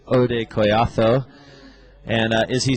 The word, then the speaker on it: Hodei: be the 551 that ode wants and uh thank you very much to some of our Spanish speakers writing in and uh telling us not to pronounce the h in in oday's name